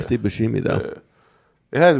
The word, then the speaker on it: Buscemi: Boo with the B U. Steve B. Buscemi? Oh, Steve Buscemi.